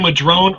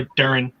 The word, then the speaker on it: Madron: You can say Madrone or Madarin. Madarin is the Cornish pronunciation of the place. Madarin, yep. Sounds like rhymes with patron.